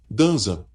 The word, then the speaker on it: Danzan: O Kasak adota a pronúncia japonesa Danzan.